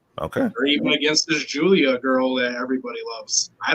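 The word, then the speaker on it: Giulia: Okay, so it's Julia.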